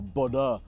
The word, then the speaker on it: Bodø: All right, well, welcome to Bodo, or Bodø, as I believe locals pronounce it.